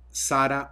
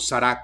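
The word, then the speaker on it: Sarah: quién es el cardenal Robert Sara o sará Como algunos pronuncian su apellido es el segundo de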